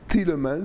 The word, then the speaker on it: Thielemans: il s'appelle tout stimmen toots thielemans petit le mans ça dépend si on prononce à la flamande ou ou en français c'est un flamand d'accord